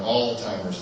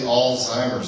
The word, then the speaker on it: Alzheimer's: say Alzheimer's disease or they'll say that all time of all the tigers disease and it's actually Alzheimer's disease this is how it's